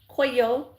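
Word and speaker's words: 紅葉: Coyo in Japanese coyo.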